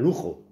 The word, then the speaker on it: Lugo: Bueno, es que en Lugo no vive nadie, vive en Lujo. ¿De acuerdo? Sí. El Lugo, la G, la pronunciación no es exactamente una J, pero es muy parecida, ¿de acuerdo?